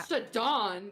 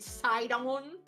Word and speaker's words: Sidon: Saddon. You mean Sidon? Is it pronounced Sidon? I always said Saddon. Yeah, I always say Sidon.